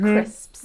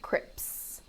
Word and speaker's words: crisps: for learners of english it's the s sound at the end crisps you'll find a lot of people mispronouncing them as crips crips that's exactly what